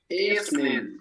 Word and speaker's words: evening: Es como decir if y luego dices nen. Evening. A ver, inténtalo, Jonathan. Evening.